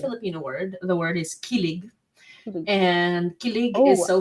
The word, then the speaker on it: kilig: The word is kilig, Kilig.